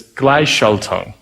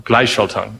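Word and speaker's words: Gleichschaltung: well and it's uh I'm really bad at pronouncing it but it's gly Shelton or glyshalton it means synchronization between private companies and the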